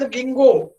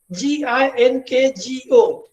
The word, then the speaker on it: ginkgo: Why it is known as ginkgo? Ginkgo. Its pronunciation is different and it is spelled in a different way. Ginkgo.